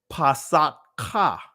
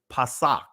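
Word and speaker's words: פסח: ah at the end now if we didn't it'll be Passat Ka right that's pronouncing every letter as a syllable but it's pasak all right so what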